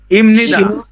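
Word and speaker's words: 입니다: এখানে ইমনিদা। ইমনিদা। ইমনিদা। এই যে এখানে বিয়োপের পরে মিয়ম আসছে, এজন্য বিয়োপের উচ্চারণ ম।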